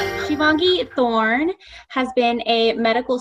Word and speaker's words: Shivangee: It's pronounced Shivangee, but I will probably respond to most things.